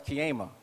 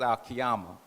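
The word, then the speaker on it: القيامة: in the nation i didn't know how to pronounce it properly so i said oh that's kiyema and that sounds like a good name for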